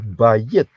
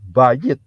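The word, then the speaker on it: בית: Nah, tenda itu atau rumah yang terbuka seperti itu bahasa Ibraninya, kata Ibraninya adalah bayit, ya, bayit.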